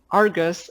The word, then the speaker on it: Ai-RGUS: We pronounce Ai-RGUS as Argus and keep the 'i' silent.